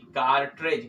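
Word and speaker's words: cartridge: सी ए आर टी आर आई दी जी कार्टेज कार्टेज मतलब कारतूस ठीक है तीसरी नंबर का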